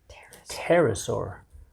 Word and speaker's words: pterosaur: pterosaur using the bathroom pterosaur why because the P is silent now back to our